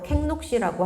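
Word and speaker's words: Kek Lok Si: 록시라고 부르는 절인데이 룩시라고 하는 거는 현지 발음, 중국계 발음이라서 그렇고 원래 극락사입니다. 극락. 극락 아시죠? 네. 극락사를 현지 발음으로 녹록시라고 하고요.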